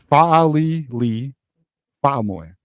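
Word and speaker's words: Fa'alili Fa'amoe: It is pronounced Fa'ali Lee Fa'amoy.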